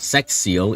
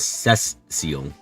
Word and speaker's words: Cecile: never change saying Cecil you think it's really Cecile yes that's why I'm remind myself it's not sex seal it's CES seal s if you